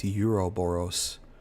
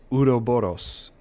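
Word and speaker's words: Ouroboros: If Miranda had access, it bugs me how he pronounces Udooros as Euroboros. is Udo Boros to the mega my seat since 1919.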